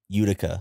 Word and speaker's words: Utica: Is that pronounced Utica? Utica.